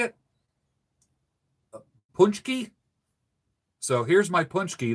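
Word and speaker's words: pączki: got I got how do you say it punch key so here's my punch key this is to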